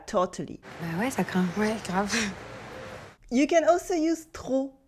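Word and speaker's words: trop: you can also use TR with a silent p usually means too much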